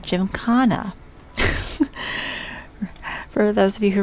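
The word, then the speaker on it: gymkhana: Oh, and I did actually look up it's pronounced Jim Kana. For those of you who remember the first festival that I couldn't say it, it's Jim Kana.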